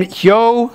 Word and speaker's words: Hjo: All right, Jens from Hjo, Sweden. I think it's pronounced Hjo.